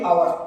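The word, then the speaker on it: hour: जैसे एन आवर, इसमें H silent है तो बोलेंगे आवर, तो एन आवर, an honest person, N एयर उत्तराधिकारी, यहाँ पे एच साइलेंट है।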